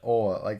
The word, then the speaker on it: oil: Yeah, people That's around here do say ol. like a southern accent. Right. Oil. So oil, also depending on where you are, you may hear one or two syllable version.